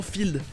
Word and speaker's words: field: Parce que d'habitude, dans IE, c'est le E qui est muet et le I qui se prononce I, comme par exemple dans field, A field test.